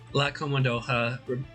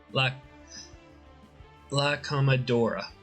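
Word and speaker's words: La Comodora: La Comodoha rhyming with Dora the Explorer is how it should be pronounced.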